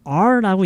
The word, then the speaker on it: our: 근데 가장 좋은 거는 앞으로 영어를 여러분이 앞으로 하면서 이 our는 어떻게 발음하는 게 가장 좋냐면 그냥 letter R 있죠? R. 그냥 R라고 읽는 게 제일 좋아요.